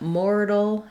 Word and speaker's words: mortal: And these words have the same sounds except that mortal has a flap T and moral does not. So they both have first syllable stress. Letters OR say or. So it's just like the word more plus a syllable that has basically an L sound. So I've written it here, moral, with a schwa, moral. You basically are going from that more into the dark syllabic L, moral, roll.